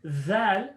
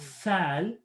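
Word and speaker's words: ذال: So dhal, simply make sure your tongue is out and there's a little bit of a buzz there. Dhal, dhal. Not thal, not th, but dh or zh. Dhal.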